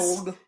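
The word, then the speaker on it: Imbolc: But I pronounce it with a G. That's okay. That's where I am with it. So, that's Imbolg.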